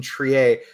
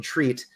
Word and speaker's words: Triet: I think this is my first Justine Triet, which I wanted to pronounce as Justine Treat, which I have to